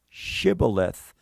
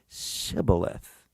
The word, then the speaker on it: shibboleth: it is but they could not pronounce the word shibboleth all they could say is sybileth when he said sybileth